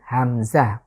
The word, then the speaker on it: হামজা: এর পরের যে লেটার আপনারা দেখতে পাচ্ছেন হামজা, এটার নাম হচ্ছে হামজা। হা এবং হামজা এটা হলো কণ্ঠের একদম শুরু থেকে, ঠিক এই জায়গাটি থেকে উচ্চারিত হবে, হামজা, হা, হা, হামজা।